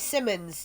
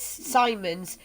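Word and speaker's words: Simons: phone calls you know is that miss simmons no it's simon's and then later on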